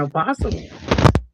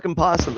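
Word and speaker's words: opossum: Cuz it's a possum. O silent. It's like knife.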